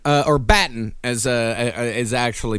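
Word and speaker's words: Battan: Uh so Kate Batan uh or Batten as uh is actually pronounced, she was the lead investigator and she already knew by 1:30 p.m.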